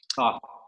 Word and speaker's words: Thoth: It's Einstein and Toth. I don't know, I never pronounce it right, but, or maybe I do because I do all the pronunciations. Thoth.